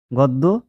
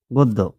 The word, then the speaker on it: গদ্য: জ ফালা এটা থাকলে কি হবে ও এর উচ্চারণ ও এর মত হয় যেমন দেখো পণ্য পণ্য গদ্য গদ্য গদ্য গদ্য তারপর দেখো নাম্বার পাঁচ নাম্বার দেওয়া